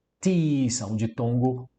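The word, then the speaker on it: τοῖς: Os quimeis afiemen, tois é um artigo, tis é a pronúncia, tis, som de tongo, o i, tis, ofiletes.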